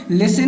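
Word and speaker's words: listen: तो यहाँ पर ये देखिए, लिसन में हम लिसन पढ़ते हैं, टी को नहीं पढ़ते।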